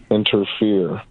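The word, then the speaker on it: Enterfear: album uh whenever totally It's called it's called um inter fear that's crazy we're just talking about fear but it's one word and it's spelled like e n t e r f e a r a interfere I'm entering fear and at the end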